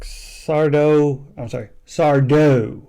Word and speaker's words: Sardo: And at first, it just sounds like Sardo, accent on the dough, is just mumbling nonsense until.